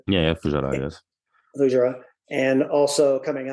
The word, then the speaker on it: Fujairah: Recently at Fujairah, if I'm pronouncing that correctly. Yeah, Fujairah, yes.